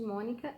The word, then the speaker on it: Mônica: é o Ni e a sílaba tônica de Mônica é o Mo, certo?